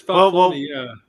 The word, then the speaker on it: Falcone: I thought it's not Falcone. It's Falcone.